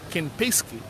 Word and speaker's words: Kempinski: out of uh accra kim pesky hotel i hope i'm getting the name pronounced very well uh is uh ken pesky that's how it is called here and if you just